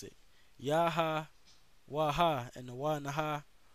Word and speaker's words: Yahawah: one true power yaha and that's how you pronounce that name it's yahawah that's the name of the heavenly father okay